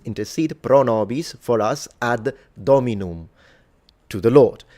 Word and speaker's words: dominum: And I'm specifically pronouncing the M because in ecclesiastical pronunciation, the M is supposed to be fully pronounced just like in Italian. If I was reading this in classical, the M would be completely nasalized.